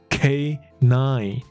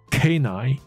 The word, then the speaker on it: canine: 好，希望有清楚哈。好，所以客制化的狗衣来满足他的梦想， to fulfill his lifelong dream，他是一生的 lifelong 的一个一生的梦想， a lifelong dream of becoming a canine。所以狗这个字你可以叫它 canine， C-A-N-I-N-E，它的发音就是 K 跟数字的9， K-9， K-9。